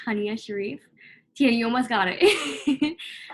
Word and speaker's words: Haniya Shariff: my name is pronounced tanya sharif yeah you almost got it i just if anyone who knows me is watching this knows that i always say it's honey with an uh um just to help